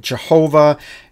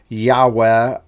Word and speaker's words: Yahweh: time people pronounced it Jehovah and most modern Scholars say no they didn't have a j sound it's y so they've changed it over and we end up having Yahweh uh but there's variations